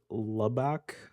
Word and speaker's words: Lubbock: A judge in district court and I believe you would pronounce it Lubbock Lubbock.